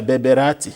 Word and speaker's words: Berberati: Your first internship was at the same diocese which you are now bishop, the Bishop of Berberati. Is it, I'm pronouncing it correctly? Yeah, Berberati.